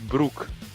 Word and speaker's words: Broek: Yo, but like his name is pronounced Broek in in what's called in Dutch.